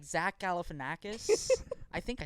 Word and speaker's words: Galifianakis: But then, like, Zach Galifianakis.